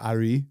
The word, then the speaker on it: Arye: Ari his name is spelled Arye. So Ari.